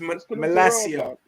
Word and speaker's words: Malacia: to terrell ma lacia sorry it's hard to pronounce his name guys sometimes you forget it's malaysia tyrell now i know i know we call